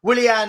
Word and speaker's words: Willian: Fulham one will villian V I don't know why V villian Like a Villain but but pronounced differently um Willian has just scored um